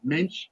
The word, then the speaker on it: Mensch: This is a thing called Mensch on the bench. Mensch on the bench. So I won't mispronounce it. Think of the word bench and switch it to Mensch.